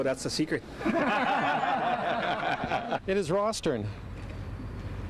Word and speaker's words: Rosthern: in saskatchewan and it's the proper way to pronounce it is with a soft th sound lou what's the name